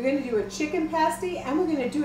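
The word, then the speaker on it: pasty: to do a dessert pastie too, Erika. Is that the way you pronounce that word, pastie? Absolutely. I always thought it was a pastie. No, pasties are something else you wear.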